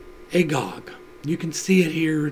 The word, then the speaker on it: Agag: agagite comes from and it is pronounced agog you can see it here just barely but it is pronounced agog there's a prophecy coming